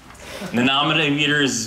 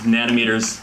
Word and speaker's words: nanometers: was my impression that they put the emphasis on the wrong syllable the nominee meters nanometers all the same thing